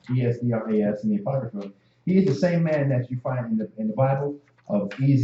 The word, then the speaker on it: Esdras: Ezra and Esdras are the same person. One is pronounced in the Hebrew, one is pronounced from a Greek translation.